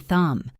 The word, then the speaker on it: thumb: Common examples include the K in knife and knee, the B in comb and thumb, the W in right and wrong, and the L in walk and talk.